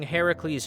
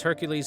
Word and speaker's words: Heracles: the same as calling Heracles Hercules Hercules is not the proper pronunciation of the name it's Heracles anyway